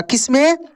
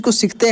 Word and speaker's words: कंस: ये ऊपर सब में न के रूप में उच्चारण हुआ है। किसमें? न के रूप में उच्चारण हुआ है। जैसे लंका, लंका, कंस, कंस, हंस, हंस बोलकर भी देखिए न का उच्चारण होगा, हंस।